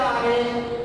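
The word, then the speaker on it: honest: दूसरा हमारा एग्जाम्पल में आयन आने मैं, तो यहाँ लिखा हुआ है आनेश लेकिन हम उच्चारण में करते हैं आनेश तो इसलिए इसके पहले दिया है।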